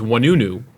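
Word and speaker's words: Ouanounou: for folks to pronounce last name is wanunu but it's spelled o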